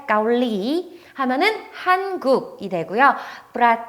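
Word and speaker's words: เกาหลี: 많이 들어보셨죠 한국이 되요 요것도 가끔 뭐 카오리 까 우리 요렇게 발음 하시는 분들이 있는데 중간에 보시면 롤링이 있으니까 꼭 릴 리 일로 발음을 해 주셔야 되요 아시겠죠 그 다음 두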